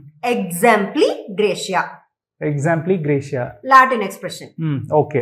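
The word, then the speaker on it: exempli gratia: Exempli Gracia, Example Gracia. Example Graciaவா? No. Exempli Gracia.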